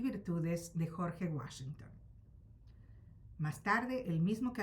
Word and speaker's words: Washington: Habíase acostumbrado ya el anciano yabucoeño a pronunciar el nombre de Washington con el acento prosódico inglés. Pero al morir se llevó consigo la buena y legítima pronunciación de dicho nombre. Sus hijos leyeron el rótulo, pero como la pronunciación castellana hace agudas las palabras finales de aquella forma cuando no tienen acento en la sílaba antepenúltima, pronunciaron desde entonces Washington.